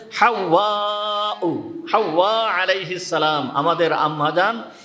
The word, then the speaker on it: হাওয়া: আমরা হাওয়া হাওয়া আলাইহিস সালাম বলি। আসলে উচ্চারণ শব্দটা হচ্ছে হাওয়াউ।